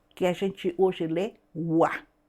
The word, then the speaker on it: は: E a partícula sempre foi pronunciado Wa. E essa partícula passou tal e qual era na língua clássica para a língua moderna. Então a partícula escreve-se Ra, mas mantém a pronúncia dela no original, que era Wa.